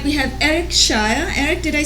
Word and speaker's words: Schayer: back to my extreme right we have Eric Shire Eric did I say your last name right yes I almost mispronounced it again but welcome back Eric it's